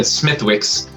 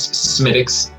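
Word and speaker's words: Smithwick's: funny you said it right i always said smithwicks but the correct pronunciation is smitix it is uh i don't know if it's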